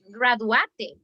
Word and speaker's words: graduate: Okay, with this verb, graduate, este termina en E, okay? But the pronunciation is not graduate, graduate. The pronunciation is graduate, like if you finish in a T.